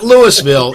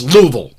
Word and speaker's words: Louisville: Louisville they go nuts it's not Lewisville it's Louisville that's like when I